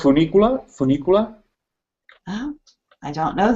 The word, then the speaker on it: funicular: It's called funicular. Funicular. Oh, I don't know the name. Spell it for us, please.